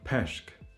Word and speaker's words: peshk: And there's also a more lax variant of this vowel, which is in the word peshk. Peshk means fish. We have the same vowel in English, like in the word dress. Dress, it's the sound.